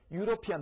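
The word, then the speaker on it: European: 아자의 꼬리가 달린 거죠 유로피안 마찬가지 피안이 아니라 피언 요것은 혼자서 존재할 수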